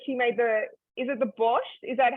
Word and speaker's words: borscht: So Pearl just said that she made is it the borscht? Is that how you would pronounce it?